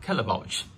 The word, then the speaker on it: Caletvwlch: I managed to find out that is called Kelly pouch we did find interesting word to pronounce actually so this is a second we